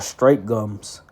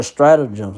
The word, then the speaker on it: stratagem: No, they're stratagems. Excuse me. I said it wrong.